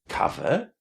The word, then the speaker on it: cover: can remember is that when you see cover cer in almost any word in English, it's going to be pronounced with the short a. So we will say cover, discover, discovery, recover, coverage, recovery, uncover, uncovered, uncovering.